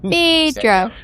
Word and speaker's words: Phaedra: You're pronouncing it wrong. Phaedra.